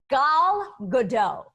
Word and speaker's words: Gal Gadot: gadot how do you say your last name gal gadot gal gadot yeah al godel and she's the